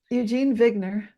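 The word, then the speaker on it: Eugene Wigner: said Bogner vogner bubble Eugene vigner yeah so it's spelled like wigner but I'm pronouncing it the German Way you that's what yeah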